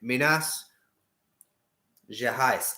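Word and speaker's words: Minas Gerais: wait wait a minute minas je heist it isn't it the h is the r and the g is j anyway yes um bella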